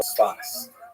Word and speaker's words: Safed: northern Israel city of Safed, pronounced in Hebrew Tzfat or Sfas.